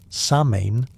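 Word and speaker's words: Samhain: The word sain pronounced sa in means summer's end.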